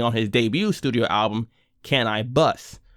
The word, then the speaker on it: Can-I-Bus: his debut studio album can i bus which of course is a play on his stage name spelled the same but pronounced differently apparently ll and cannabis